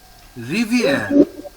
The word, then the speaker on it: rivière: River. No. See the spelling. It is rivière.